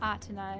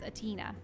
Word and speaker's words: Athena: Athena. That's how I'll pronounce it. It's not Athena, it's Athena.